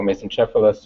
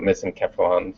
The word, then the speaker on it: mesencephalon: can recognize the midbrain, or mesencephalus, or in the UK they call it mesencephalon. So it's several different ways of pronouncing it.